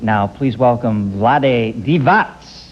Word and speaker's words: Vlade Divac: Angeles Lakers and I was ignorant enough to mispronounce his name earlier I've got it right now please welcome Vlad divat little cologne Vlad loves me